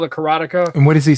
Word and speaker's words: karateka: So it's the way it's supposed to be said is karateka.